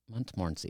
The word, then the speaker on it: Montmorency: Accessory after the fact to a a hard time pronouncing the name of this county. Montmorency Montmorency. Montmorency.